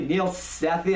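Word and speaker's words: Neel Sethi: The kid who plays Mowgli, Neil Sethi, I think is how you say his name.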